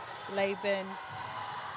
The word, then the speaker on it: Laban: We've just been told her pronunciation for her name is Laban.